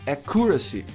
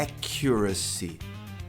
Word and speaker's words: accuracy: Muita gente pronuncia como accuracy. Acuracy, mas a pronúncia é accuracy.